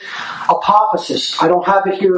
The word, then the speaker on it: apophasis: So there's two inquiry methodologies, apophasis and cataphasis. Most people will never have heard of either of these terms, and that's okay. All right? Apophasis.